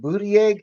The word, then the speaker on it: Buttigieg: Buttigieg.